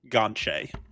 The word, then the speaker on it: Gonthier: And I just saw the wonderful name of Gonthier is actually pronounced Gonche.